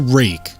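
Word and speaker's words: Rike: know that that's a rake they uh that's how you pronounce it right it's r i k e it's and that they pronounce it rake I don't know the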